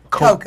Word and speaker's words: Cocoa: Girl, they go Coco. All right. I like whatever. Long as my check Long as right. they right. Long as my check is spelled right, that's all that matters. But it's pronounced Coca.